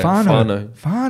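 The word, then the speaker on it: whānau: Sorry, I don't want to butcher the pronunciation. Fano. Beautiful. Is that how you say it? It's Māori. Yeah. Fano.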